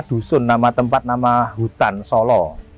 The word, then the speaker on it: Sala: Nah Solo itu nama dusun, nama tempat, nama hutan Solo. Bukan Solo. S-A-L-A. Salah. Solo. Ya, bacanya Solo.